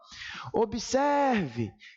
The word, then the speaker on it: observe: ela disse assim ó Observe chama a palavra grita pela palavra onde a sílaba esticar um pouco mais aquela é a tônica então na palavra observe a sílaba mais forte é a penúltima por isso Esta palavra